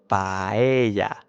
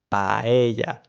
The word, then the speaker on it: paella: So, paella, paella. Also, avoid dragging out the A at the end of the word. So, paella.